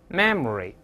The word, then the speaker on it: memory: 我们再来一遍 memory memory memory 就好了，就不要读 memory，那个是不发音的啊。